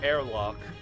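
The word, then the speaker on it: Herlock: you mis rotten SP it's airlock that's how it's pronounced when it's when it has the double r airlock ah airlock shies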